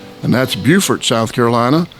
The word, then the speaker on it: Beaufort: And 19 Santi Lane 1 N Santi Santi is spelled S A N T E. Santi Lane, L A N E. And that's Buford, South Carolina.